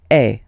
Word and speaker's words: es: Okay, and for tu, then you've got this combination of letters. Okay, but then basically the sound you will pronounce or you will produce is est.